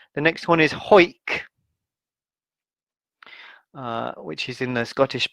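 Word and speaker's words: Hawick: offem the third is anik so the l is silent the next one is hoik which is in the scottish border uh the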